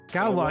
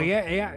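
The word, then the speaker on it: Gauloises: I can never pronounce it. Galwa. Galwa, yeah.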